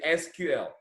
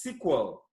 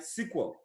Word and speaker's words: SQL: you are used to we can say SQL but it is pronounced as sequel all right sequel it is a language